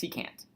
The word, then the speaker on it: secant: of a secant line it's pronounced secant a secant line so a secant line